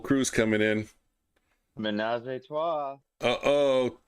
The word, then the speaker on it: trois: Toi. No. Oh, you need an H? No, an R, and they roll it. Trois.